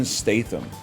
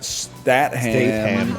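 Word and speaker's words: Statham: Jason Stathithm. Cuz I feel like Stathithm is not a British name. It should be like Statam or Statam or something like that.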